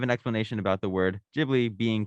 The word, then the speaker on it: Ghibli: explanation about the word ghibli being correctly pronounced with a hard g like give but in japanese there's